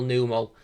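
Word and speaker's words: Numel: fire red with a single numeral or normal depending on how you want to pronounce it that one sure has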